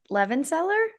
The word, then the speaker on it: Levenseller: I think it's Levenseller.